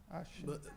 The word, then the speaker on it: Aachen: Está correta a pronúncia? Aachen. Bárbara não. Bárbara. Aachen. Aachen. Obrigado, professora Bárbara. O Aix-la-Chapelle também vale.